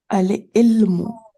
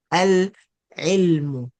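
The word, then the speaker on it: العلم: Al-ilmu. Al-ilmu. Very good. Because Ain is a moon letter, so the lam gets sukun. And we pronounce it with the sukun. Al-ilmu.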